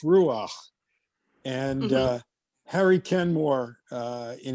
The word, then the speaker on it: ruach: but that the in ruach is a guttural sound and i was just